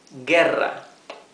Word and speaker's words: guerra: The u is mute. So this is guerra or war. Guerra.